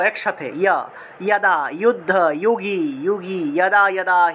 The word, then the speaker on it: যুগে: च दुष्कृतां धर्मसंस्थापनार्थाय সম্ভবামি যোগে যোগে। এই যে যুগে যুগে আছে না, সম্ভবামি যুগে যুগে আছে, এটা উচ্চারণ হবে যুগে যুগে। সম্ভবামি যোগে যোগে, যুগে যুগে থাকলে যোগে যোগে হবে, অর্থাৎ যে জায়গাতেই জ